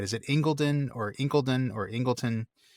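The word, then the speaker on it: Incledon: So it looks like Inken, but it looks like Inken, but I've seen some stuff online that suggests it might actually be pronounced Ingleton.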